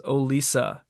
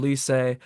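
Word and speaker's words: Olise: continuously throughout the match pronounced ois uh as oisa so I guess for today it wasn't Michael oiss um instead it was Michael oisa yeah absolutely diabolical by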